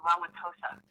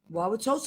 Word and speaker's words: Wauwatosa: So I'm really close to Milwaukee, in a little hard to pronounce town called Wauwatosa. Wauwatosa.